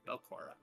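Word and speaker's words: Belcora: you, you might have heard stories uh about Belora. It's just kind of like a How do you spell it again? Mothers children. Huh? How do you spell it? Uh, B E L C O R A. Belora.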